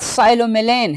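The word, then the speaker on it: psilomelane: पर फिर इसके बाद साइलो मिलेन है साइलो मेलेन स्टूडेंट्स प यहां पे साइलेंट है साइलो मेलेन बेरियम है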